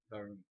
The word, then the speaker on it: warum: But Wait, is it pronounced ballroom or ballroom? Varum.